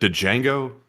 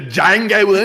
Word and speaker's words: Django: He's talking about the Django Unchained. It's like, what the hell are you talking about? Someone said the D is silent, hillbilly.